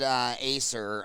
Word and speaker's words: Acer: Your point with David Acer, I think it's pronounced Acker, David Acker, Okay.